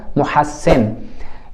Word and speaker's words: مُحَسِّن: تلفظ کر رہے تھے، یعنی سین کے اوپر شد اور زیر پڑھنی ہے، ہا کے اوپر آپ نے زبر پڑھنی ہے اور میم کے اوپر پیش پڑھنی ہے، تو کیا تلفظ بن جائے گا؟ محسن، یہ اس کا تلفظ ہے۔ اردو میں ہم کیا ہے اس کو محسن تلفظ کرتے ہیں، وہ بھی درست ہے۔ یہ کیا لکھتے ہیں؟